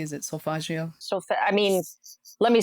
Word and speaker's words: solfeggio: am i pronouncing that correctly correctly is it so fagio so i mean let me say it with a boston accent solfeggio yes so there's a couple that i